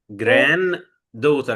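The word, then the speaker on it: granddaughter: دوتر بمعنى حفيده جران دوتر احنا عندنا اتنين دي الدي الاولانيه قبلها حرف الان ساكن وبعدها حرف الدي ساكن ف طالما الدي قبلها ساكن وبعدها ساكن مش هننطق الدي الاولى انما الدي دي الثانيه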